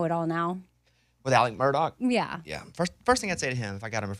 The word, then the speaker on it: Murdaugh: of me I'd say why do you say your name like that it's spelled Alex murdaugh but he wants to call you Alec Murdock right so but yeah people